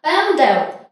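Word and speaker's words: będę: Тут схована у нас літерка Н у цьому хвостичку. Бенде. Так, літера С хвостиком в кінці слів читається як просто Е. Десь, можливо, трішечки ми чуємо У, але читаємо її просто як Н.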